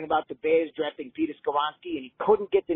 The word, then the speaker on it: Skoronski: And in the comments, I was saying, Foz, it's Skoronski. Even my 3-year-old nephew, when I got him playing and, listening to videos when I'm babysitting, he stomps around. He said, no, Skoronski.